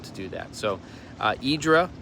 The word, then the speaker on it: Hydra: So, uh, Idra and pronounced uh, that way by the Greeks or close to it. I'm sure I'm butchering it, but spelled at least in the English alphabet, H Y R A. uh in the Greek alphabet it's actually I think only four letters um and then pronounced itra or something like that.